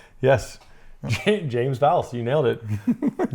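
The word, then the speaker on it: James Vowles: James Vals.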